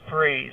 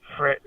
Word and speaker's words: frieze: And he told me, "You're the first person that's actually said it right. It's frieze, not fri."